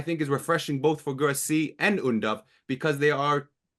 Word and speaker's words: Guirassy: Guirassy, that's the pronunciation, Derek. Remind me. Yep, Guirassy.